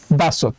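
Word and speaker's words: 다섯: নিচে আছে আরেকটা সিউদ তো এই বাচ্চি সিউদটা বাচ্চিমাম আকারে বসলে উচ্চারণ হবে ত তাই স এর সাথে আমরা আরেকটা ত নিলাম তাহলে উচ্চারণ হবে দাসুত আর এই দাসুত মানে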